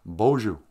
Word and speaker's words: Boozhoo: He goes, no. It's pronounced Boozhoo. I said, yeah, well, in my town, we say Boozhoo.